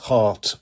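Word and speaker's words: HART: You can also take a heart bus. Now, that's spelled H A R T.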